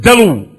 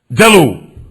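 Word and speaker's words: دلو: Like the word dalu. Del, lam, wow. Dalu. Dalu is a bucket, but so is dhanoob. A dhanoob is a bucket also. But how do you know the difference between dhanoob and dalu?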